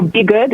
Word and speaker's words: BeyGOOD: So BeyGOOD is the correct pronunciation of it, derived from Beyonce, as it is her philanthropic initiative.